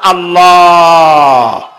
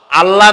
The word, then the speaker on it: আল্লাহ: আল্লাহর নাম আল্লাহ, বলেন তো। আল্লাহ নয়, কিন্তু আল্লাহ হচ্ছে অশুদ্ধ, শুদ্ধ হচ্ছে আল্লাহ। বলার সময় মুখটা গোল হয়ে যাবে।